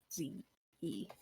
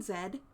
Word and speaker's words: Ze: That's Z-E. I think you mean Zed. No, Z. The D is silent.